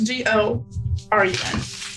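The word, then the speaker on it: Gorun: Sorry, It's G-O-R-U-N. G-O-R-U-N. That's what I thought, but I was like, that's too go. So Goran. Go run, Go run. but Go run. pronounced just faster. Goran.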